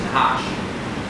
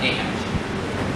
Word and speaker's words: Nahash: Nahash is how you anglicize it. That means how you pronounce it in English. Actually, the original pronunciation in Hebrew is Nahash, not Nahash.